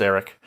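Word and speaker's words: Aric: But it's just pronounced Eric.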